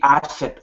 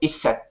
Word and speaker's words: Aset: Isis is an Egyptian pronunciation, more likely Aset or Iset, is a goddess from the polytheistic pantheon of Egypt.